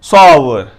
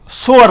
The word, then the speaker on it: sour: और ये सोअर नहीं है, सॉवर, सॉवर।